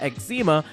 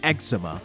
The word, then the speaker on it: eczema: Then he says that his stuff is bumping like eczema. It's actually pronounced eczema, and it's a very serious condition.